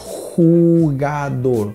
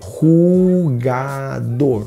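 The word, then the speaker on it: jugador: Olha a pronúncia, jogador, jogador.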